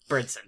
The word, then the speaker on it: Bernsen: Corbin Bernsen, I think, is correct? Bernsen. Oh my god, I'm so sorry. I always think there's a T in there, and there's not.